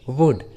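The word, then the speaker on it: would: और एग्जाम्पल देखिए, वुड, शुड। देखिए सभी इंग्लिश वर्ड्स में एल, यू के बाद आया है, इसलिए रूल के अनुसार एल का उच्चारण नहीं हुआ है, वुड एंड शुड।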